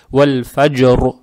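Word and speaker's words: وَالْفَجْرِ: При остановке, так как касра исчезает и над буквой РО появляется сукун, РО надо читать твердо. Почему? Потому что когда РО с сукуном, перед ней тоже с сукуном, а перед ней фатха, РО читается твердо.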